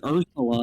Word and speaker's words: Ursula: like little mermaid villain it's pronounced Ursula not what whatever whatever Ursula.